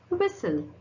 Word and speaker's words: whistle: Now, letter T can also be little sneaky and also be silent, like it. In the example, what is the example? Ballet. How you pronounce this? Ballet. Soften. Soften. Gourmet. Gourmet. Asthma. What is that? Asthma. Christmas. Whistle. Listen.